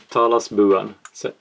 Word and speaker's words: Talasbuan: Talasbuan is pronounced...